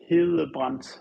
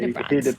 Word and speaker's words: Hedebrandt: Okay, so in Danish it would be Hedebrandt, which in Danish you have like this soft pronunciation of a D, but in English we just say Hedebrandt.